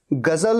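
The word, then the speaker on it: ग़ज़ल: लिए कभी भी देखिएगा गजल में ज के नीचे बिंदु होता है ऐसा नहीं होगा कि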